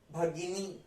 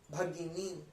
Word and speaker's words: भगिनी: मतलब भाई, भगिनी, भगिनी, ग के ऊपर जो है वो छोटी ई है, तो हमने उसको छोटा सा प्रोनाउंस किया, गी गी, और न के ऊपर बड़ा ई है, तो हम उसको कैसे प्रोनाउंस कर रहे हैं, नी, भगिनी भगिनी भगिनी।